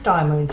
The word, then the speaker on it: DIYMoon: I will pronounce them properly. It is DIYMoon shop.